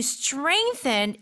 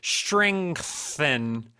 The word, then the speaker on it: strengthen: Strengthen. That TH right there. So say it normally. Strengthen. Yeah, you almost don't hear it, like strengthen.